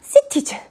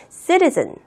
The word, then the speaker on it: citizen: 할 때 만드는 규칙이라고 이야기를 하는데 매번 문장마다 citizen 이렇게 얘기하면 힘들잖아요. 그래서 t를 다 발음이 하는 게 아니라 citizen 이렇게 발음을 하는 겁니다.